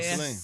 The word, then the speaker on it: Celine: Is it Celine or Yeah, Celine.